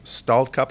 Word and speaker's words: Stallcup: And I believe who will be performing the oath of office is her father, Tony Stallcup.